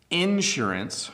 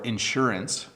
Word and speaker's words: insurance: Insurance or insurance, notice the slight difference in pronunciation. You can say it two ways.